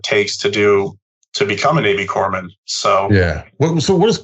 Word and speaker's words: corpsman: It's not, people will say corpsman, but the P is silent, so it's not corpse. Right. It's Corps, like the Army Corps of Engineers or the military Corps. So a Navy corpsman is their medical fleet, essentially.